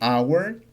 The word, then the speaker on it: hour: An se utiliza antes de palabras que inician con una h muda, como en la palabra hora. Por ejemplo, aquí diríamos an hour o en la palabra honor.